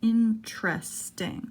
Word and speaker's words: interesting: for an interesting interesting notice how the T goes right to the are interesting so we're omitting the